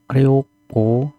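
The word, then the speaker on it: 旅行: Ryoko. Ry ko. Rionya pendek ko-nya panjang.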